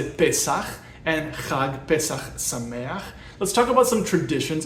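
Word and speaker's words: חג פסח שמח: We would say chag, pesaχ, sa-MAY-ach.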